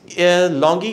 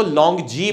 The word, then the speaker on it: LONGi: Mention करता चलूँ कि इस लॉन्गी के पैनल की मल्टीपल प्रोनाउंसिएशंस है। हमारे पाकिस्तान में या इंटरनेशनली जो प्रोनाउंसिएशन चलती है वो लॉन्गी चलती है, वेयर एज चाइना में जो इसके ओरिजिनल मैन्युफैक्चरर्स हैं वो इसको लॉन्ग जी बुलाते हैं। तो अगर इसकी एग्जैक्ट प्रोनाउंसिएशन की बात करें तो वो है लॉन्ग जी, लेकिन जनरली उर्फ़े आम